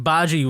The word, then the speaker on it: bhaji: It's like an Indian dish. It's like a like bhaji with like a BH in yeah.